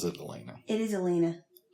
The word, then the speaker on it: Elena: And she's named Alana, but clean Queen Mave like everybody else pronounces it Elena. It is Elena.